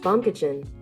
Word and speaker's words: Baumkuchen: hold on hey Google how do you pronounce baumkuchen that's pronounced bum kitchen that's what I meant